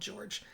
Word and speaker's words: Jorge: His name is spelled Jorge, but I found a video of him telling a police officer that he prefers to be called George, so that's what I'm going to call him.